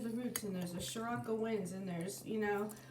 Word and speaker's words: Sirocco: Sirocco, Sirocco. That sounds like sriracha.